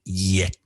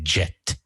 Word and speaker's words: yet: just the grammar but the pronunciation of still and yet so many students say jet so we're going to